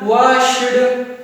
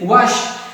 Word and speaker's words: washed: Okay, from today onwards, you will not pronounce like walked. You will say walked. This is not washed. This is washed, and this is danced.